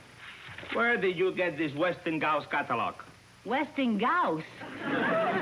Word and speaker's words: Westinghouse: of h i am telling you it is pronounced westinghouse i suppose the people who've been doing their